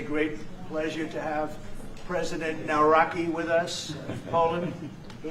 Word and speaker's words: Nawrocki: Gave me a little different pronunciation. I said, I want to get it perfect. Did I get it right? Yeah, good, good. Nawrocki. I better get it right.